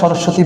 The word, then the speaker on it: সরস্বতী: সরস্বতীতে কিন্তু আমরা বফ উচ্চারণটা ঘটাই না।